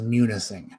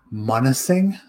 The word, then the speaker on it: Munising: is munising m-u-n-i-s-i-n-g munising i can see people saying monising because if the u made like the the soft u sound could be monising but people would butcher they'd be like monsing all of that was like monsing i'm like well no it's like there's another eye in there foul mouth is